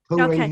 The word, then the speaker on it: Tong Ren: And he actually focuses on Tong Ren healing. Is that correct? Did I pronounce it right? Yes, Tong Ren healing.